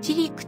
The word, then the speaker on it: 千栗: ちくりと書いて、ちりくと読む。